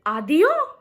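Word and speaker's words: adiós: Is it adio? No, it is adio. Adio. It is UH-DYOO. So it is the pronunciation of this word.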